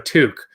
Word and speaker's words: toque: Toque is a lot easier to say. It's one syllable.